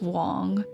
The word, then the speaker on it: Wang: It's pronounced Wong which is how Kenny's last name is translated in English. It's spelled W A N G phonetically in the English translation.